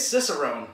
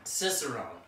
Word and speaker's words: Cicerone: a fiercest of them I feel like we're mispronouncing this I think it's Cicerone Cicerone which it is basically